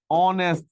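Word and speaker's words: honest: বসে এন্ড বসে for example he ইজ অ্যান অনেস্ট ম্যান অনেস্ট ম্যান একটু খেয়াল করে দেখেন তো এইচ এর উচ্চারণ আপনার উজ্জ্ব থাকলে কি দিয়ে শুরু হয়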